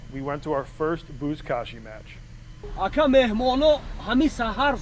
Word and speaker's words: Buzkashi: you can find, if you search the word Buzkashi, you might be able to find like the trailer for the video I did. How do you spell that? B-U-Z. All right. K-A-S-H-I. K-A-S-H-I. Buzkashi.